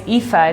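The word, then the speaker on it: Aoife: AI at every so my name is epha it's spelled aoi and people joke it's like epha intelligence cuz I'm literally every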